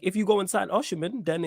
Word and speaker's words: Osimhen: Osimhen. Yeah, I even heard he was a little link for us at one point. 100%. Like, if you go and sign Osimhen, then it's on Jesus to step up.